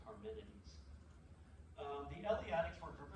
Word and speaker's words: Parmenides: I know they sound like really fancy names, but I know it looks like Parmenides, but it's the way it's pronounced in Greek is Parmenides.